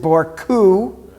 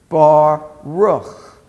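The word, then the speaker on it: ברוך: we pronounced bar rook we didn't pronounce it bore coup or baruk we pronounced it for who bah rook because this is the cuff without the dot therefore it has a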